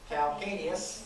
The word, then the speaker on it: calcaneus: calcaneus. Calcaneus. Okay. That's how you spell it.